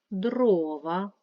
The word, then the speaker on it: дрова: яких наголошений перший склад Ну наприклад дрова перший склад наголошений це слово будемо писати